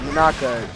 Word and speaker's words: Muñeca: Yeah, Muñeca.